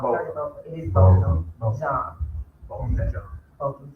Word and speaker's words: Botham: Is his name pronounced Botham or Botham? I've heard of both. It is Botham.